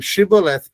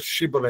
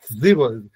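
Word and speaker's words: shibboleth: não conseguiam, eles presenciam chibolet. né, que significa espiga, né? Eh, eh, não interessa que a palavra significa, só que eles eles não conseguem pronunciar shíbola, eles falavam zíbol, né? Zíbola.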